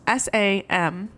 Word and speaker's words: Samhain: It dates back to the Celtic festivals, like Samhain, which is Samhain.